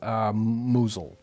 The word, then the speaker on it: Mousehole: yeah, this actually says Mousel. Mousel. It does say Mousel, and I thought it was Mousel. If you and I put our brains together, we would have got that one. I think so. Yeah, I think we can definitely. It's like Mau. We get half a win on that one. Yeah, I mean you have to skip over the whole EHO, but then you get Mousel.